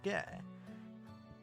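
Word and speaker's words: ゲ: this is Ge, or Ge. You pronounce this as Ge, like in the word guest, or get, or gecko.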